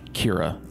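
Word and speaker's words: Qira: summer i've been working with a company called kira that's spelled q-i-r-a to basically help them develop a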